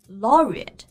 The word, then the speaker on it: laureate: 音不是吃的那个 aid, 而是发一个弱化的 schwa 的元音。Laureate, laureate.